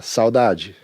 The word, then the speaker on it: saudade: theme that is very common through bossa nova so dodge did I pronounce that right oh so dodgy so this is really one of the reasons